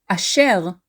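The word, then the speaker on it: אשר: the name comes from the word Asher is formerly pronounced in Hebrew formally we stress the last syllable in the word a shell but very commonly we stress the second to last syllable so whether you pronounce your name a shell or ashel it is referenced in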